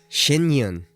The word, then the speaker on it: Shen Yun: Shinyun is what it's called.